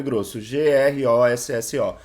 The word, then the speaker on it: Grosso: na certidão de nascimento meu sobrenome é grosso se inscreve Grosso já que a pronúncia meu vô italiana aquela coisa toda a gente sabe né teve muitos que vieram para cá no Brasil pro Brasil e aí a pronúncia é grosso só que quem vai